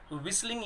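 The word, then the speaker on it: whistling: विस्लिंग, यहाँ H silent है students, H बोला नहीं जाएगा, विस्लिंग नहीं होता, ये विस्लिंग होता है।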